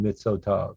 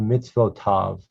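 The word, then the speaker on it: מצוות: o is a vowel you couldn't say but midsota's it just doesn't work in hebrew so that's why you're learning about the two dots vertically which close off the syllable the mitzvoth this is a good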